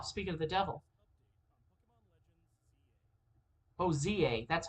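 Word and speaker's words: Z-A: Oh, ZA, that's how it's pronounced. I was hoping we'd get the update on Z to A. ZA, just ZA, not Z to A, Z to A, whatever.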